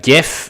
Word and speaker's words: GIF: this point and uh GIF oh man that's um the let me not mispronounce that I I call it gif as opposed to the peanut butter which is Jiff but let's not destroy